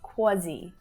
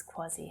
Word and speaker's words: quasi: I thought this was quasi, quasi. But then I looked it up in the dictionary and I'm quite wrong. I've been pronouncing it wrong my entire life. I feel like this is so often pronounced as quasi.